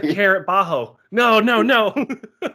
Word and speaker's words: Bajjo: you need to win i'm sorry was it bajo thank you yeah and that's another thing i